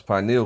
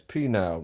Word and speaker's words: pineal: Egypt Oh Bach women always mispronounce pineal gland as penile gland so I like to